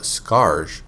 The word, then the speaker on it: Skaarj: What are the Skaar creatures in the Unreal franchise? While their name is spelled Skaarj, the proper pronunciation is just Skaar.